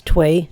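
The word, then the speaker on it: Thuy: Vietnamese born actor through it's twee twee Trang not not food not food it's twee I had a lot of trouble pronouncing it first but it's twee and I'm not gonna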